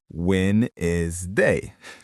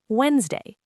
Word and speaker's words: Wednesday: When is day? And the real pronunciation, Wednesday. Clean, quick. That D in the middle, yeah, just disappears.